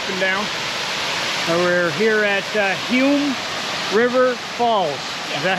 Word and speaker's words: Humes River Falls: We're here at Hume River Falls. Yes. Is that how you pronounce it?